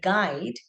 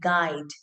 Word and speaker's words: guide: And we have to always remember the U is silent only when we are reading. But when we are working with dictation, when we are asking the children to write the word guide, we've always seen children